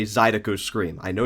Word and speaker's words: Zydeco: Oh, I got roasted so bad for that mispronunciation there. I know, guys. I know it's Zydeco now.